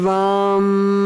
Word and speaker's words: Vam: The one syllable Sanskrit mantra is Vam with a V. Vam.